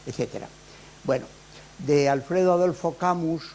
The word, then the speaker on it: Camus: ellos fue Alfredo Adolfo camus y lo pronuncio así en castellano porque aunque nacido en París de Padre francés de madre cordobesa en realidad pues fue español y vivió su vida en España este catedrático de literatura